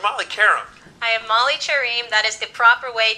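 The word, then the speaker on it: Qerim: whoa whoa you're Molly Karam I am Molly cherim that is the proper way to pronounce my last name so why all of a sudden now I've known you as Molly for three years it's just time it is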